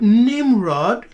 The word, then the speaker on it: Nimrod: know that this word nimrod with the consonant NMR yeah so nimro the D on the end is not pronounced so the consonant NMR